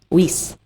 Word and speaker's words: Wiese: Wiese. Wiese. Like geese.